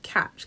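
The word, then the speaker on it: Kach: party I want to say in Israel called catch catch is spelled k a c h the founder of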